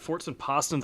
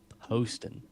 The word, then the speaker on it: Poston: It's cool cuz like I was watching this other stream and they were saying my name wrong. Like they only think that because it's Boston and put a pause.